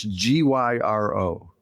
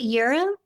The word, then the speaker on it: gyro: Is it euro? Ooh. Euro box, right? Well, it's just not gyro. Yeah. A lot of people say gyro.